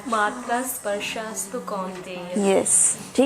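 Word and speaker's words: कौन्तेय: अस्तु Kaunteya. Very good. चलो बच्चे पढ़ लिए। कुंती नहीं है, कौंतेय।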